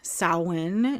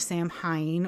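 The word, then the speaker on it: Samhain: the winter Sol SCE um so it is pronounced sa not Sam Hine or Sam Hayne as some people like to pronounce it um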